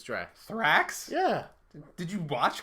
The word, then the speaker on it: Drax: I thought it was Thrax, but it's Drax.